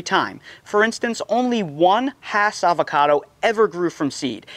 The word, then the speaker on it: Hass: And that is pronounced Hass, not Haas, and it's spelled H-A-S-S, not H-A-A-S.